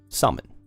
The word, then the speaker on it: salmon: So, summon The L in salmon is silent. No, don't don't come to me with that. No, we're not going to start this. It's salmon, not salmon.